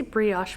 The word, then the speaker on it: brioche: I cast this on yesterday after doing a brioche swatch. Brioche. I would say brioche, but I think it's brioche.